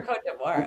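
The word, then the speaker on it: Côte d'Ivoire: for Cote d'Ivoire.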